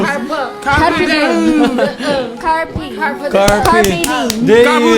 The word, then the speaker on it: Carpe Diem: Ayan, sabi ni Carpe Samir, ang ano daw, ang pronunciation daw ay Carpu Deu. Diem. Carpo Day. Carpe Deo. Carbo. Carpe Diem.